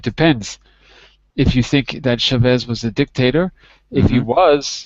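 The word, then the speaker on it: Chávez: Chevera. How do you pronounce? Chavez.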